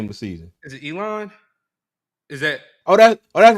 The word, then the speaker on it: Elon: is it Elon? Is that That's right, because you called it Elaine.